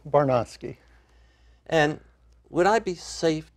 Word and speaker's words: Barnosky: pronounced your name properly that was close enough Michael it's barnosky and would I be